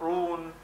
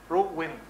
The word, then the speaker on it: ruin: It's not ruin. Ruin. Ruin, two syllables.